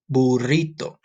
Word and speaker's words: burrito: gonna say burrito ready let's say it in Spanish boo Dorito burrito for those for some of you can't roll your R's this one's gonna be a little turkey but that's okay try